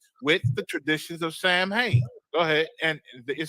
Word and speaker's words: Samhain: Pronounced Samhain. I'm pronouncing wrong. Samhain is actually pronounced Samhain.